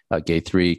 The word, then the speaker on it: Gayatri: Think about a guy and the number 3. And the A in the middle is almost silent, so it's Gayatri.